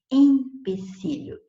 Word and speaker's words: empecilho: E aí, por falar assim, às vezes ela vai e escreve também empecilho. E não é in com I de igreja, é em com E de elefante, é empecilho.